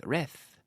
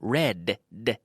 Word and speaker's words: read: tongue touches the teeth, it will sound like reth. But no, red, Vale?